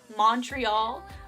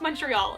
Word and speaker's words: Montreal: mention that Maddie kept referring to it as Montreal. I am from Canada, and my roommate is from Montreal. It's pronounced Montreal, and it was so frustrating that she kept calling it that the whole time.